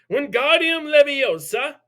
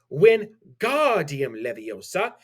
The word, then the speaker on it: Wingardium Leviosa: Wingardium Leviosa, he shouted, waving his long arms like a windmill. You're saying it wrong, Harry heard Hermione slap. It's Wingardium Leviosa. Make the gar nice and long.